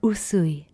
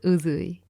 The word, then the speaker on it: Usui: If you're struggling to remember this, think of sushi. You say, I'd love to eat sushi, not I'd love to eat sushi, right? So it's the same. It's the same for usui, not uzui.